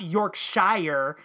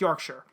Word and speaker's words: Yorkshire: It's not Yorkshire. No, it's Yorkshire.